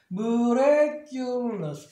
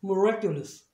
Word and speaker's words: miraculous: 그러니까 이제 얘는 시와 사운드가 되겠죠. 그러니까 미라고 발음 못하고 이제 무로 바뀌어요. 얘는 단모음이니까 무레, 그 다음에 얘는 유는 뒤에 자만하니까 유로 하면 되겠죠. miraculous 빨리 하면 miraculous. 아까는 miracle 명사일 때 miracle이었지만 형용사가 되면서 miraculous로 바뀌어요. 그러니까 액센트 위치가 바뀌니까 당연히 발음도 바뀌는 거예요.